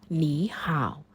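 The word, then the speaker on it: 你好: ทั้ง 2 คำ ค่ะ ต่าง ก็ เป็น วรรณยุก เสียง ที่ 3 จึง ต้อง ฝึก แล้ว ก็ ออก เสียง ให้ ถูก ต้อง ว่า ห่า ลด ตัว หน้า เป็น เสียง 2 ก่อน ซึ่ง ถ้า ใน บท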